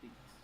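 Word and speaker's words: Deacs: Pronounced D-E-A-C-S, Deeks.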